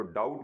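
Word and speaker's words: doubt: आपको कहा था साइलेंट लेटर तैयार करने हैं, तो डाउट में बी इसमें क्या है, साइलेंट है, इसका सी ऑप्शन हो गया।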